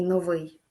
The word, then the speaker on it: новий: слова вимова висить і новий запам'ятайте як правильно наголошувати ці слова саме вимова наголос на другій склад висить наголос на перший склад новий чарівний фаховий наголошуємо Як ви зрозуміли знову ж таки останній склад наступне завдання наступне завдання